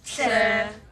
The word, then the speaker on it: Tseh: Sir.